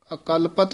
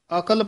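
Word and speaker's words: ਅਕਲਪਤ: बचारी अले इस पाठ न अकल पत उच्चारण करना ए दे विच डैश दे के बोलना है अकल नहीं कहना अ कलपत अकल्प पाठ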